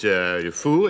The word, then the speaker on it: Defoe: I mispronounced your name again. No, it's all right. You know, it. Defoe is correct.